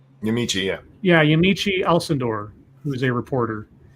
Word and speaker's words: Yamiche: never remember how to say her name it's yamichi yeah yeah yamiche alcindor who is a reporter and she tweeted